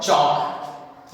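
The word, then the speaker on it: chalk: याद रखना है जिस तरह से हम इसे चौक नहीं कहते हैं, दिस इज कॉल्ड चौक, याद रखना है।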